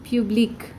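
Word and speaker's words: publique: nouns starting with vowels public public same pronunciation sec sesh you notice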